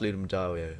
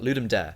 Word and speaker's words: Ludum Dare: I think it's actually pronounced Ludum Dario, but nobody says that. Ludum Dare.